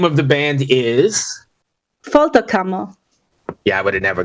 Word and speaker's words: Folterkammer: me I'm gonna need help with all these pronunciations okay no problem the name of the band is fto camo yeah I would have never got that so